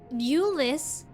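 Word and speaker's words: Aulus: of which Ulus spoke Ulus that's how his name is pronounced finished your war council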